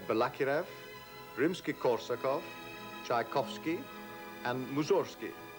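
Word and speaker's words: Mussorgsky: Kiev rimsky-korsakov Tchaikovsky and Mazursky pronounced in Russian mooses key to mention only a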